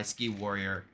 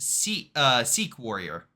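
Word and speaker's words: Sikh Warrior: Pretty solid work by Ski Warrior. Even after he took some losses, he at least, you know, had some more. And now chat says, Colex Primal says that's pronounced Seek Warrior.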